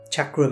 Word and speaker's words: chakra: centers called your chakras chakra means wheel and by the way it's pronounced chakra because it's an indian word chakra means real it's